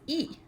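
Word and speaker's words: 이: say um or leg in Korean the L sound is not pronounced right so my last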